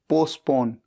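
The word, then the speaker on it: postpone: फर्क है next word P ओ एस टी पी ओ एन ई पोस्टपोन यहां पर टी साइलेंट है और इसका मतलब होता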